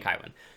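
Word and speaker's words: Cywen: His sister Kywin, or Cohen as the Audible book pronounces it, and I think Philip Chase said it would be Cohen, so Cohen. I'm saying Kywin.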